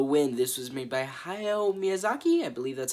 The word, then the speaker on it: Hayao Miyazaki: This was made by Hayao Miyazaki, I believe that's how you say his name, and it was released in 1984.